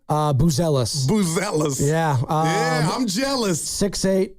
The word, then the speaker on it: Buzelis: Buzelis.